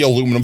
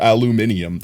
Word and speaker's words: aluminium: You should be peeling the aluminum foil and eating the burrito. Have I been eating burritos wrong this whole time? Anyway. Aluminum is also light metal. No, not aluminum, aluminium.